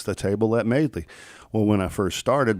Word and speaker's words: Madeley: promote the show, and I'll put MAID-LEE, and and that's how you pronounce it, and it's still Madeley.